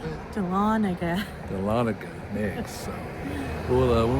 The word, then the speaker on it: Dahlonega: Dahlonega.